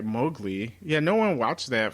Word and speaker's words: Mowgli: The only thing I have heard of is Malawi, The little Jungle Book boy. I'm pronouncing. Oh, that wrong. Mowgli. Mowgli.